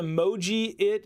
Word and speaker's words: Mojiit: parents dear kids have the moji it app will this app is pronounced e emoji it but remove the e